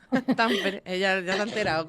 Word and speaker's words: Tampere: Pues mira, si te soy sincera, cuando cuando me fui a estudiar estudios de género a Finlandia, a Tampere, que se dice Tampere, Tampere, ella ya se ha enterado cómo se dice,